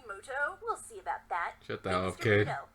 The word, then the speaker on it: Muto: turn wait a minute is that yugi muto actually his name is pronounced yugi moto we'll see about that